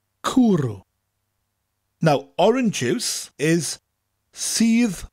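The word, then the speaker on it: cwrw: cooroo cooroo cooroo cooroo people who say Welsh as no vowels will love this word it's spelt CW r w kuru now orange juice is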